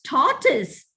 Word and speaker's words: tortoise: It's tortoise, not tortoise. Most Indians go by the spelling and pronounce this word as tortoise. It's tortoise.